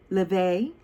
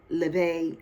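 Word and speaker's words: Laufey: So we had Ley. It's spelled L A U F E Y.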